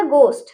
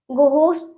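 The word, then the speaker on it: ghost: घोस्ट तो नहीं पढ़ रहे ना हम, ठीक है। भूत, घोस्ट मतलब क्या होता है, भूत होता है ना, तो हम इसे घोस्ट पढ़ेंगे, एच को हम साइलेंट रखेंगे, ठीक है।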